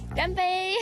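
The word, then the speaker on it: 乾杯: Just say, "Ganbei."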